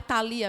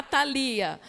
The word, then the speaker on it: Thalia: e descobri violou que é a Thalia mesmo são quatro sílabas a fonética dela a sílaba tônica e no li que é paroxítona bom então você nunca